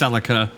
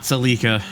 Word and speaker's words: Celica: I believe it is technically pronounced Celica, not Celica.